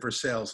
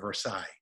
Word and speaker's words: Versailles: do something so i purposely uh mispronounced versailles i said for sales instead of versailles oh in my audition